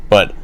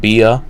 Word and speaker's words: Bea: just on the pre-show, but whatever. Bea Priestley, and I guess her name is pronounced B and not Bea, so I've been pronouncing that wrong the whole time.